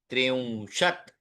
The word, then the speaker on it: त्रिंशत्: अब त देखिए, अंत में त के नीचे छोटी दंडी है, तो वो पूरा उच्चारण नहीं होगा। जैसे दश, तो द और श पूरे पूरे हैं, किंतु त्रिंशत्, चत्वारिंशत् त आधा उच्चारण है।